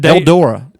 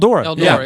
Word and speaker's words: Eldora: Eldora. Eldora.